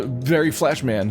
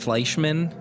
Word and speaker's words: Fleischmann: is his name Barry it's actually pronounced Fleischmann it's a German version Kaiser's rise to